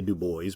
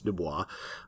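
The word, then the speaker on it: Du Bois: from Booker T Washington and from Debbie B Dubois by the way that's how you pronounce his name a lot of people say Dubois but it's Dubois and we're going to be sort of bringing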